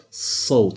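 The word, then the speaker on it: صاد: Now, many people will pronounce that as sot. Okay, sot, but it's not sot, it's salt. It's the sound is coming from here.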